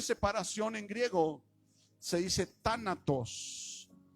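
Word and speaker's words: θάνατος: cómo se dice separación en griego se dice tánatos y sabes cómo se traduce muerte muerte esta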